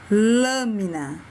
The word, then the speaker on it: lâmina: Próximo, lâmina. Lâmina. Um som fechado.